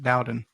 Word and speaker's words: Dowden: Dowden.